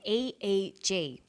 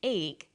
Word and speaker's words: EEG: that say the Swinburne researchers he says an EEG that's an abbreviation we don't pronounce it ich we say a eg EEG stands for electroencephalograph